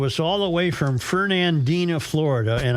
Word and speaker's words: Fernandina: Only because they come to us all the way from Fernandina, Florida. And I was wondering why in God's name was I pronouncing that Fernandia. Fernando. Because I just didn't look at it closely enough.